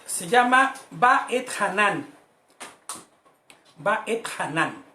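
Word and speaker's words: Va'etchanan: Va et Hanan, con acento en la última, Hanan.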